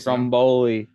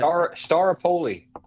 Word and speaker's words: Staropoli: I don't even know how to pronounce his last name, but Patrick something is replacing him. Stromboli. Yeah, Stromboli. We're gonna roll with that. Staropoli.